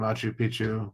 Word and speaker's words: Machu Picchu: between Orient Tombbo and Machu Picchu. Mach Machu Picchu. Sorry, I got to pronounce it correctly because you say it wrong, it means something completely different.